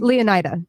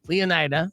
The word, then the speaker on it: Leonida: you say the name leonida leonida which is like Florida right is a crotch